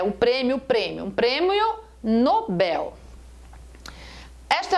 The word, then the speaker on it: Nobel: é ínterim é ínterim a palavra não é nobel é nobel se a palavra fosse nobel ela teria que ter assento porque seria uma paróquia situada terminada em l ela não é nobel é um prémio prémio